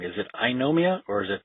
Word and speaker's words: Eynomia: got it correct me if I'm wrong is if I know Mia or is it pronounced in another way oh yeah II know Mia yeah I had a feeling I was pronouncing